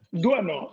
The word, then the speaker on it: Doisneau: dalle risate perché no, si pronuncia Doisneau, Doisneau, non è Doisneau, è pure più difficile da dire Doisneau.